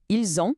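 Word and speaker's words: ils ont: Ilzon significa eles têm. E a pronúncia exige um som de zoneando o s final ao o inicial da palavra seguinte. Fica ilzon.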